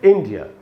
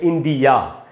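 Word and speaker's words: India: अच्छा दोस्तों, इसमें जो ई है वो बड़ी ई है और वहीं पर ज़्यादा देर तक रुकना है आपको, वहीं पर स्ट्रेस है, जो सिलेबल स्ट्रेस वहीं पर है।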